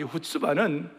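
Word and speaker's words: chutzpah: 그것은 바로 후츠바 기도이다. 후츠바의 자세이다 그랬어요. 그래서 후츠바가 뭔지를 살펴보니까 이 후츠바는 그 이스라엘 사람들이 디아스포라로 흩어졌을 때 그 지역에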